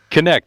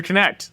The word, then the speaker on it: Knecht: Knecht, like connect the dots. Well, that's there easy. you go. Real short and simple. Knecht.